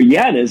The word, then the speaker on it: Yanez: So Janice is a bit different. Janice is really if you spell it out is spelled wanes and it's a region in Venezuela where I'm from and I am from that region.